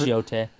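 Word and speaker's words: Yōtei: Yota. Yotai. I don't know. It's Yote. Okay, you're probably right because I've heard it as Yotai. If Yote, They say Yote Yote is in the right- game, so that's what I'm going with.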